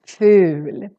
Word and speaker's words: ful: we say ugly and here we have just one consonant so the u becomes really really long fool maybe you prefer to